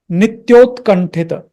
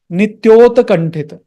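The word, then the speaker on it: नित्योत्कण्ठित: Om Nandatmaja, Nandatmaja, Om Nandatmaja, Mukhaloka, Mukhaloka, Nityotkanthita, Nityotkanthita, Nityotkanthita, Nityotkanthita. Don't pronounce it as, I have seen many people making this mistake. Nityota kanthita. It's not Nityota kanthita. The ta is half.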